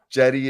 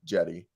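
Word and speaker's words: Cedi: Jetty is how it's said because he's Turkish and the C. It sounds like Yeah. Jedi, but like Jetty.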